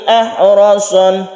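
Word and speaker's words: أحرص: Ahrasan nasi, haknya ini harus tipis, harus bersih, tidak menimbulkan suara kha gitu ya. Ahrasanna, roknya ditebalkan, tafkhim.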